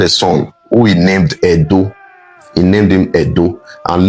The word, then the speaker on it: Edo: Wherever you hear Ado or Yoruba people pronouncing Ado, they are still referring to Benin. They are referring to Edo. That's how they pronounce Edo.